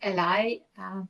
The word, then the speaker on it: ally: and Ellie is here I mostly say Ellie but some people say El U that's just how you pronounce it and well all the